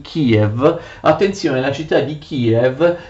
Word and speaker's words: Київ: Attenzione, la città di Kiev che gli ucraini scrivono in questa forma e pronunciano Kiev.